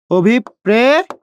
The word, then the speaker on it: অভিপ্রেত: তাহলে পর উচ্চারণ কয়বার? দুইবার। পর উচ্চারণ কয়বার? দুইবার। আচ্ছা, করেন। করলাম। এবং দ্বিতীয় এই যে দুইবার উচ্চারণ হয়েছে, এই যে প, তার সাথে সেই র ফলাটা যুক্ত করে দিচ্ছি, অভিপ্রেত। প্রিয় শিক্ষার্থী, বুঝতে পেরেছেন।